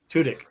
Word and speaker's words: Tudyk: How do you pronounce his last name? Tudyk.